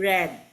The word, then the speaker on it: read: siya kahit Past Tense siya pero Ponce pino pronounce siya as read red Okay read Past Tense red pero ang Ang